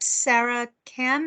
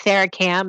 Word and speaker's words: Sarah Kam: We do have a hand up, Sarah Cam. I'm sorry if I pronounced your name wrong. Hi, that's correct. My name is Sarah Cam, and I'm an Assistant Attorney General with the